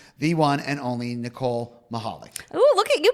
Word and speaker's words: Michalik: one and only Nicole Michalik. Ooh, look at you pronouncing my last name right. Get rid of that C. I love it. Yeah, the C's silent.